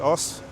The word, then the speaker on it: Ous: So, if you're new to my channel, my name is Os, as in spelled with OUS, and I actually just